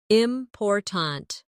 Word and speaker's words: important: For example, in the word important, we stress the second syllable, important. If you stress the wrong syllable, it sounds unnatural.